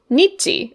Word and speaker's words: 日: You read it as, say, nichi," or, you know, what kind of sounded like nichi to Japanese speakers.